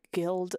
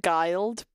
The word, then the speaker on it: guild: I learned from Neopets because I had to do like guild layouts. I used to pronounce it guild because I didn't know how to read, but it's guild.